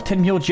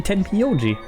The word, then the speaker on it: Tenmyoji: Spreche ich ihn falsch aus? Das wird doch Tenmyoji ausgesprochen. Warum sagen die Tenmyoji? Als wäre da noch ein I.